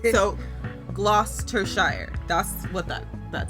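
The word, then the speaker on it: Gloucestershire: part cuz I just know that's how they pronounced it so gloss to Shire that's what that that says I know I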